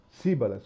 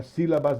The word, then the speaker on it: síbalas: Síbalas, com S. Não é sílabas, não, é síbalas.